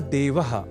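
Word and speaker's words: देवः: ही सहायता करता है यहां देवह इस शब्द के उच्चारण में ए इस अक्षर का विशेष ध्यान रखे जाने की आवश्यकता होती है अर्थात ई इस अक्षर का प्रयोग हमें नहीं करना होता क्योंकि देव तो ईश्वर का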